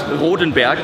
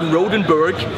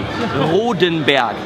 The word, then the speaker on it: Rodenberg: a very German company it's rodenberg it's not rodenberg because you know we know how to say it and if you don't know it do it with me rodenberg it's got to be a little bit and then be not B okay Ren let's do